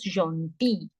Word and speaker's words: gentil: The sound of EN was on. We did it. Gentil. S for making it plural. No sound. L is the last letter, no sound. So the sound would come till I only.